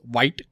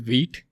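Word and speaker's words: Vite: So the spelling says it's white or some people might say it as white. Okay. But actually it's pronounced as wheat.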